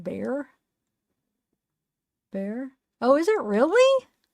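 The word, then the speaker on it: Bexar: need to know yeah right it's bear but pronounced bear bear oh is it really it's pronounced bear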